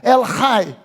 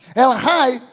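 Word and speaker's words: El Chai: Ele se apresenta como El Hai. El Hai, que se escreve lá com CH, mas CH no hebraico tem som de Re.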